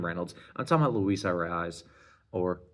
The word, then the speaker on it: Arráez: I'm talking about Luis Arráez or Arráez. His name rhymes with prize, so at least Luis Arráez.